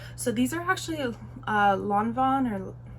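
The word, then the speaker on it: Lanvin: these are actually uh Lon Von or I'm pretty sure it's pronounced lonon um and H&M collab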